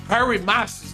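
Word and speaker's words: Harry Massis: E o Harry Masses, Harry Masses, né? É isso que é assim que se pronuncia o nome do o nome do novo presidente.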